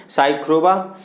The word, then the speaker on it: साइखोवा: लिखा था साइखोवा है, इसको खरोबा कहेंगे, साइखोवा है, तो आप लोग साइखोवा कह सकते हैं इसको।